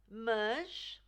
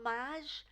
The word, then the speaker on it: mas: Mas, now this is a difficult one because it's not maj and it's not merge. It's kind of a mix between the two. The J sound at the end is more like the J in Taj, like the Taj Mahal.